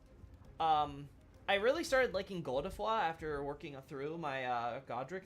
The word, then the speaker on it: Godefroy: I mean, originally, when I first saw the term in English, I was like, oh, Godefroy, I guess, right? But apparently it's more like Godefroy.